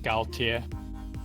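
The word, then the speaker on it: 高铁: Well, I do want to point out for the HSR or high speed rail, or in Chinese, I think they pronounce it Gaotie.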